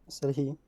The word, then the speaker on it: Serhii: Serhii, Serhii? Serhii, So the two I's actually kind of sound like an E.